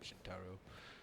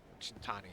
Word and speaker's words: Shintani: Guess not Shintaro. Shintani, I'm sorry. I said it wrong.